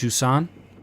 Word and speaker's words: Jusant: of water I think it's called Juan I think the t is silent I think juu n